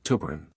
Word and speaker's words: tuberin: 16, which codes for tuberin, and yes, that's pronounced tuberin.